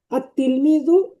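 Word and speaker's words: التلميذ: আর তিলমিজু, আর তিলমিজু লেখার ক্ষেত্রে আলিফ লাম দেওয়া আছে, কিন্তু উচ্চারণের ক্ষেত্রে দেখেন আর তিলমিজু।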